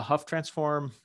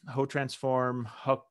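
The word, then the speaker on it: Hough transform: do that is uh a huff transform hoe transform transform i you'll hear a thousand different pronunciations i'll say huff transform here i usually say ho transform because that's what i weirdly always heard it a long time ago which is wrong but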